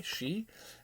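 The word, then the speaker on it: Shi: the early 90s uh she i believe that's how it's pronounced s-h-i she and uh this is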